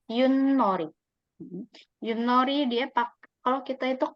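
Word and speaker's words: 윷놀이: Bacanya Yunnori.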